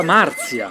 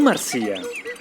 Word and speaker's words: Marzia: Si pronuncia Marzia, non Marzia.